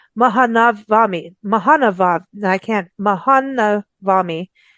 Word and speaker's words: Maha Navami: India is and I'm so sorry for not pronouncing this correctly mahanavami Mahan now I can't mahanavami um I really